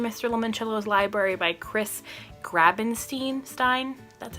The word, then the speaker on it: Grabenstein: Limoncello's Library by Chris Grabenstein.